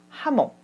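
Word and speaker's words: jamón: 라고 이름을 붙이고 있어요 이게 흐 발음이 납니다 저녁 하죠 우리 스페인의 대표 의식 뭐가 있죠 아목 있죠 하몽 2 호 따로 시작을 합니다 그래서 자몽이 아니라 스페인어를 발음하면 하모 이렇게 된다는 것을 기억하셔야 되겠죠 스페인어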